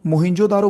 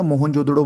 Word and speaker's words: मोहनजोदड़ो: दूसरे नंबर पे मोहिनजोदारो देखो मोहनजोदड़ो बोलो या मोहनजोदड़ो बोलो कुछ भी जो आप अच्छे से प्रोनाउंस कर सको 1922 में इसकी शुरू